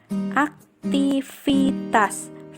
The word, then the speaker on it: aktivitas: Karena sesuai dengan pengucapan aktivitas V, jadi tetap menggunakan atau wajib menggunakan huruf V, bukan huruf F, aktivitas.